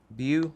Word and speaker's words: beau: It says, my boo. Is that how you say it? B-E-A-U? You. Beau? My Yep. Beau.